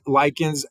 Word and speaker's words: lichens: are known as lichens right that CH is pronounced as a cut so that's first lichens that do not need soil to survive they grow on rocks right so that's what you got to remember is that lichens they don't need soil most green things most